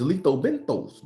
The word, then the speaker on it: lethobenthos: say it again letho BOS the word is letho benos baby Am I Wrong Am I Wrong no